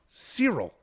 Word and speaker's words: Ciryl: Cyril.